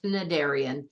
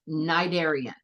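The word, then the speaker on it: cnidarian: look at that word there's a c at the beginning but the C is silent you don't say it it's not narian it's nidian so nidian are animals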